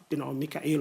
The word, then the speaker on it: Michael: My father gave me the name in honor of his friend who was called, Mikael or Michael, depending on you can choose any pronunciation you like, I don't mind.